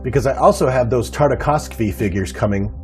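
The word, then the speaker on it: Tartakovsky: i'm just dejected because i also have those tartakovskvi figures coming karakovsky that's how you pronounce it coming from walmart and the only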